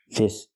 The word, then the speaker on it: this: to say these pronunciation when I say this I use the short I sound I like this is milk I this is this and the S makes a true s sound s with no voice this and the second